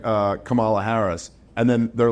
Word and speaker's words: Kamala: wrestler in the 9s how was it supposed to be pronounced I can't even hear the maybe that's the inner racist in me where I'm like I can't even hear the difference they go they go they go it's actually pronounced Kamala and Rob's like I'm